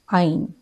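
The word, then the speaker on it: ع: see letter Olive and Ein their sound is a a but alif is pronounced with empty mouth I live I live and mine is pronounced from the middle of the throat Ein live I live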